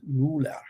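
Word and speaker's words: Müller: Sean, your last name in German is pronounced Muller. Oh, It's like it's not Mu, it's Muller.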